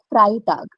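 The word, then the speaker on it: Freitag: Friday is called their fry tag. Fry tag. So ei will become I pronunciation.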